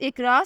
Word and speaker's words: IQRA: The next one इज़ इकरा, spelling है IQRA।